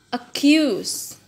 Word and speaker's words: accuse: Accuse. Jadi bacanya bukan accuse, bukan ya, tapi accuse.